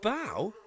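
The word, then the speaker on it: bough: But bow doesn't rhyme with cough. Bow rhymes with cow.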